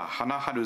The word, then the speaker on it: 花春: 看板について読み方はハナハル咲か蔵南ですが